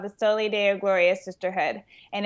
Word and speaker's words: Soli Deo Gloria: I host a community of women called the Soli Deo Gloria Sisterhood, and it's Latin for "To God Alone Be the Glory."